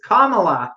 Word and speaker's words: Kamala: this vowel a little bit differently it's it's kamala not come on i know kamala because i